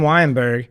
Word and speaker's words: Weyenberg: But yeah, we have Tim Weyenberg.